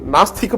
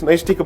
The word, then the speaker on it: Naishtika: In fact, in the court, most of the time I heard people calling it Nastika Brahmacharya when in fact it's Naishtika Brahmacharya.